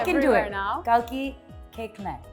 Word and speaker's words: Koechlin: So basically, it's Aaj ki nahi, kal ki chocolate cake la mere liye, and that's how you remember it. Yeah. Amazing. I know it's spelled totally differently, but that's the French language.